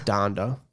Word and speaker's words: Donda: it again i guess she says it like that though doesn't she in the video done wait she says yeah she says dando yeah that's right so you know what